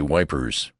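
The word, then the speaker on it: Ypres: question about e for I pronounced the name French fashion which put me under suspicion as a swanker don't try to come it son he says say wipers that's what we calls it henceforth it was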